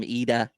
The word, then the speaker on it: Ida: Did I say your name right, IDA KUDO? Because you are like Scandinavian I'm or scanning. Yeah, we don't Nordic. pronounce. We don't pronounce the I's as I. We pronounce the I's as E.